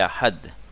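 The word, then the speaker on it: אחד: se prononce sur l'axé l'accent tonique sur le deuxième syllabe il ya deux syllabes ya et et ahad donc ya pas trois syllabes sepa et à et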